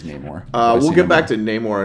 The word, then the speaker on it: Namor: yeah seeing is it do you say no more I say no more and I say nay more I go back and forth and it's I'm pretty sure it's pronounced properly as Namor we get back to